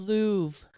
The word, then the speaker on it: Louvre: Louvre. The Louvre. The Louvre. Okay, so I don't pronounce the R.